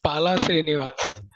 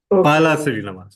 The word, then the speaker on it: Pala Srinivas: It is Pala Srinivas. Pala Sorry? Srinivas. Pala Srinivas. All right. Pala Srinivas. All right. First is Pala and then Srinivas. Yes. Okay. Correct. So thank you, Toastmaster Pala Srinivas.